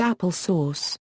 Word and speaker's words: Apple SOS: The Apple III introduced an advanced operating system called Apple SOS, pronounced Apple Source.